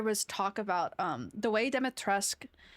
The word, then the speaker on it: Dimitrescu: And then there was a great debate of that's not how you actually say it in like the game Dimitrescu. They pronounce the U at the end.